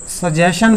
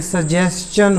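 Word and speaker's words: suggestion: देखो इसको ना अक्सर लोग सजेशन बोलते हैं, ये सजेशन नहीं होता, ये सजेस्चन होता है, सजेस्चन। इसकी प्रोनाउंसिएशन ठीक करना। कोई भी इंग्लिश का वर्ड जो एंडिंग हो रहा है TION से, चन उसकी प्रोनाउंसिएशन होती है, ठीक है।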